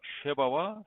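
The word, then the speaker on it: שבא: 원 발음이 각각 쉐바와 세바입니다.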